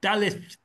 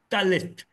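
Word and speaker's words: דלת: a Dalad is pronounced Dalith, Dalith, with and your tongue is at the beginning, at the front of your mouth, very much like a Taf.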